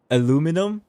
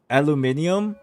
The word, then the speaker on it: aluminium: not even American like what else is there aluminum but it's actually pronounced aluminium and it's actually spelled within additional I but